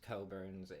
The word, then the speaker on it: Cockburn's: I'm sorry it's pronounced Coburns.